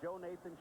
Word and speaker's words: Jonathan: you like that name joe nathan it's it's spelled jonathan but his name is joe nathan shelley and he is a